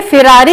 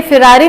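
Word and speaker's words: Ferrari: सो देखने में लगता है ये फिरारी होगा, बट ये फिरारी नहीं होता इसका प्रोनाउंसिएशन। सो इसका प्रोनाउंसिएशन होता है फरारी, ना कि फिरारी।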